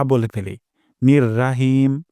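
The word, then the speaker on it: رحيم: তিন number point হিম আমরা এখানে হা উচ্চারণ করব গলার মাঝখান থেকে অধিকাংশ সময় দেখা যায়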